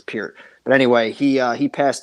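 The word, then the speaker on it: Neil Peart: name is Pierre I know everybody calls a park but it's pure but anyway he he passed away on the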